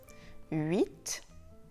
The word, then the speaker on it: huit: Vous savez aussi que le T de 8 se prononce: huit.